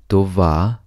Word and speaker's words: това: it once again TOA the first word TOA means this an easy two syllable word to VA TOA this is followed